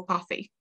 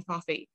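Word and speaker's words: Cobhthaigh: the anglicized version of the irish name coffee which is spelt c-o-b-h-t-h-a-i-g-h which is definitely different way to how we spell it today the irish version translates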